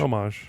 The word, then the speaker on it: homage: Homage or homage? Homage. Okay, A lot of people say homage. They I shouldn't. say homage. It's homage. it's an homage to Pay Link homage to the to it.